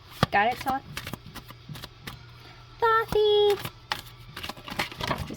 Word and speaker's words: Thoth: Some pronounce it Toth, some pronounce it Thoth, like me.